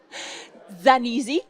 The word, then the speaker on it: Zanisi: À côté de vous, Zanisi, comment on le prononce dans la langue d'origine ? Zanisi. Zanisi, donc italienne.